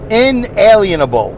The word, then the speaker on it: inalienable: Inalienable right refers, this is Google, inalienable right, inalienable, like the word alien, alienable, inalienable. That's how they spell it, inalienable.